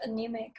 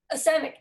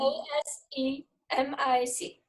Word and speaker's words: asemic: work is reminiscent of anemic writing. And I love that. What kind of writing? Anemic, I might be saying it wrong. A-N, asemic. Oh, sorry. Anemic, asemic. Say it again. A-S-E-M-I-C. A-S-E-M-I-C, asemic.